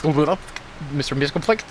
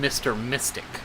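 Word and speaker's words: Mxyzptlk: the p silent and you pronounce a soft x so that it's not a z then it ends up being mr mystic sorry a little bit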